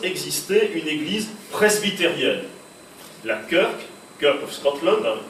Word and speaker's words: Kirk: La Kirk of Scotland, Church se dit en Écosse Kirk, Church prononce Kirk en Écosse, donc la Kirk of